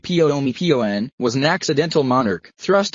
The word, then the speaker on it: Bhumibol: world's longest reigning monarch King womble pronounced pio pio an was an accidental monarch